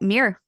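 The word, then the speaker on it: Miir: of Summer gross and Mir believe I'm pronouncing that correctly m i i r yep mirr yeah I love everything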